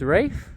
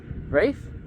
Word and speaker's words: Rafe: So my name is Rafe. Okay. nice to meet you. And I thought might as well get up to say my name because it'll be on the book. So there you go, Rafe, R-A-F-E, Rafe.